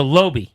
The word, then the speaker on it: Laube: The pronunciation, L-O in caps. So that's got to be low, right? Low. So Lobe.